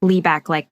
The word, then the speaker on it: Liebeck: And I do apologize if I say Liebeck instead of Liebeck throughout this because it's spelt Liebeck, but it's pronounced Liebeck like it would be pronounced in French.